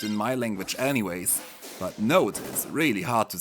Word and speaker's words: Nótt: Note like this. I hate her name. Dagger is actually easier to pronounce for me as a German, as this